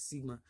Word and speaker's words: Sigma: slightly different manner using the Greek capital letter pronounced as Sigma Z does this you see do you see